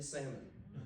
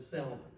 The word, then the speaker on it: salmon: The salmon was dry. By the way, I got a public service announcement here. The L is silent in salmon.